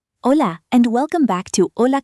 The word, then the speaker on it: hola: Say hola. Hola. Good. The H is silent.